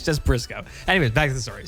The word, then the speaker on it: Burisuko: A lot of people say my name Booty Suko. It's not Bisuko. It's just B. It's just Brisco in Japanese. So, it's just Brisco like Brisco son. So, it's not it's not Burisuko.